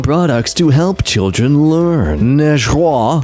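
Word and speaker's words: negro: Nejraw.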